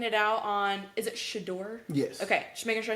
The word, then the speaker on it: Shedeur: So what I'm getting at is, should they have taken it out on, is it Shedeur?